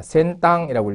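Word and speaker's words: 先端: 파생어라는 것은 자, 우리는 첨단이라고 하는데 일본에서는 이렇게 선단이라고 쓰기도 합니다. 센땅이라고 읽죠.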